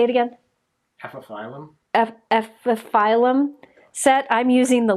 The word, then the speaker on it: Epiphyllum: Epiphyllum. Epiphyllum. That's how you pronounce it. That's what he's trying to figure out. Epiphyllum.